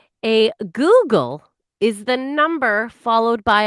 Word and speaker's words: googol: A Google. It's actually Just one more spelled time, Allison. Go on. A Google, but it's spelled Googol, just so you know. Google, but it's pronounced Google, is the number 1 followed by 100 zeros.